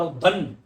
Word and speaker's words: उद्दंड: इसका शुद्ध स्वरूप होगा उद्दंड, ऐसे भी लिख सकते हो, या उद्दंड, द का उच्चारण दो बार उद्दंड।